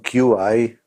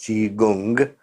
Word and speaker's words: Qigong: Chinese Qigong, that's the right pronunciation, Qigong, it is pronounced Qigong, is an ancient science of, on the one hand, exercise, Tai Chi.